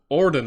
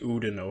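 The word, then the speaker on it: Oudinot: this properly okay so upon looking back at epic history TV's video he pronounces he pronounces it as Udo so I'm going to say Udo from now on I like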